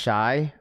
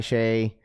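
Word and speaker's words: Shai: Raph, it's pronounced shy or Shay. My bad. SGA, Shay.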